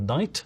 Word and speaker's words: knight: uh KN or no Once Upon a Time people genuinely did pronounce the k at the start of Knight they'd say k or